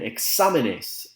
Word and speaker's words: exámenes: On the flip side of that, you have an examen, an exam, and exámenes, multiple exams with an accent on the A.